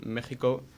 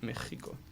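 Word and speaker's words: México: ex like for example Mexico it's you say like a j an X or like Mexico is there one more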